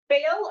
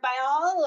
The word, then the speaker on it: Baal: Baal or Baal, or depending on where you're from in the United States and how we pronounce that.